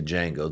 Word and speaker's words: Django: But, uh, cuz yeah, again, they did it even in the movie Django. The D is silent.